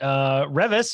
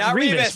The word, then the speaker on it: Revis: We also learned that Revis is how you pronounce the author's name, not Revis, which we have probably been saying for literally years.